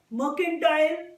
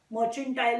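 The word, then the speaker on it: Mercantile: Belong करता हुआ Shivalik मर्केंटाइल cooperative bank. मर्चेंटाइल नहीं बोल रही हूं मैं, मर्केंटाइल बोल रही हूं, आप प्रोनाउंसिएशन प्लीज ध्यान से सुनना।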